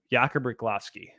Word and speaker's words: Riklovsky: Jakub Riklovsky. It sounds right. I like it. Riklovsky. Because it looks like Rychlovsky, but it's not.